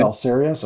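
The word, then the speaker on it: Belisarius: I don't know how you pronounce his name. Yeah, you pretty much Balsarius, nailed it. Balsarius.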